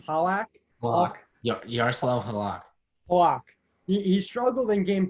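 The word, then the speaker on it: Halák: And then, how do you pronounce that name? Halak Yaroslav Halak. Halak.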